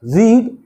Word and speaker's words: read: First form में रीड बोलते हैं, सेकंड फॉर्म में रेड बोलते हैं, और थर्ड फॉर्म में रेड बोलते हैं।